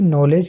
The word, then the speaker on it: knowledge: इसका pronunciation नॉलेज करते हैं, KNOWLEDGE, ठीक है। ये इसका स्पेलिंग होता है, लेकिन यहाँ पर के साइलेंट होता है, नॉलेज, और डी भी, डी और के इस नॉलेज वाले शब्द में जो है साइलेंट होता है, इसको नॉलेज पढ़ते हैं, नॉलेज, ठीक है।